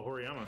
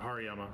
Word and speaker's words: Hariyama: Oh, a Horiyama. Or Hariyama.